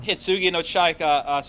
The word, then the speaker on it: Hitsugi no Chaika: Hitsugi no Chaika, Check Out the Coffin Princess.